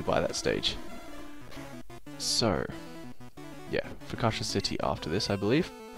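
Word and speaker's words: Fuchsia: down and get in for kasha that's how you pronounce it city because i think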